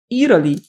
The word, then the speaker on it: Italy: E é comum que os americanos, quando eles pronunciarem Italy, eles vão pronunciar como Italy. Esse T tem som de R.